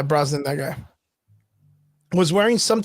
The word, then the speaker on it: Brosnan: because during an interview Pierce Bronson Pierce I can never pronounce his name right rosinan yeah Brosnan that guy was wearing